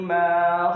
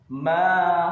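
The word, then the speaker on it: ما: Tentu saja beda, karena pada ayat yang kedua huruf ma ada harokat fathah di depannya bertemu dengan alif. Maka cara membacanya adalah panjang dua harokat.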